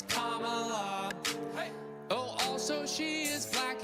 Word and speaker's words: Kamala: Her name is Kamala. It's not Kamala, no, her name is Kamala. Emphasize the first syllable, it's Kamala.